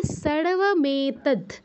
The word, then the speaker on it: सर्वमेतद्: দেখুন দয়ের নিচে কিন্তু হসন্ত আছে। হসন্ত আছে মানে দয়ের পর যে অটা আছে সেটা কিন্তু নেই। তো আমরা খেয়াল রাখবো যে দয়ের পর অ যেন আমরা উচ্চারণ না করে ফেলি।